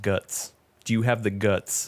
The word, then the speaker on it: GUTX: Here we go. GUTX. Guts.